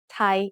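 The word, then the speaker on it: ไทย: The ย อ ย ั ก ษ ์ doesn't really need to be there and it doesn't change the sound of the word at all.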